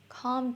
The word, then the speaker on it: calm: কর, ইংরেজিতে calm down, calm down। Pronunciation note, calm এর এল উচ্চারণ হয় না, শুধু calm।